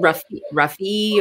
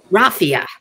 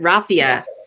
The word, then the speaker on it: raffia: For example, like you have the leather, and am I saying Ruffy, or how do you say that? Raffia. I want to say Ruffy, but that's not right. Raffia.